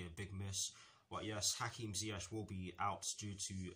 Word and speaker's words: Ziyech: concerning the Chelsea first team, and it concerns Hakim Ziyech, yes that is how you pronounce his name, Ben Chilwell, Thiago Silva, Cesar Azpilicueta and Christian Pulisic.